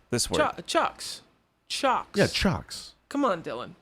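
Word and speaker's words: Ciocks: how to say it shock cc7 no this one Chucks Chucks yeah chalks come on Dylan c-i-o-c-k-s but it's pronounced chalks let's go with it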